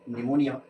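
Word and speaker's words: pneumonia: Silent हो जाता है एग्जांपल देखो साइकोलॉजी निमोनिया और नेट यहां पे आप देख इसको हम जी साइलेंट है यहां पे पी साइलेंट है और यहां पे साइलेंट है।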